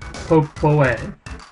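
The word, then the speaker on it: Popoi: spelled in different ways i think the phonetic pronunciation of it is pop-poe and i think some people romanize it by putting e-i and some people romanize it by putting i but then it would be po poi so i don't know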